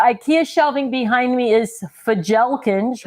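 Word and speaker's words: Fjälkinge: shelving behind me is fajelkins which I know is not how you actually pronounce it but that's how it's spelled f-j-a-l-k-i-n-g-e for gel kench and the Shelves come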